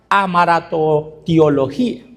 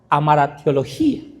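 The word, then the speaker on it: hamartiología: Les voy a decir, es bien fácil el nombre, se llama amaratotiología. Amaratiología se llama, suena como trabalenguas. Se escribe h a m a r t i o l o g i a.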